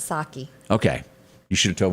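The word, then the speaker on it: Psaki: i never said gin pakiseki no i think that the p is silent saki okay you should have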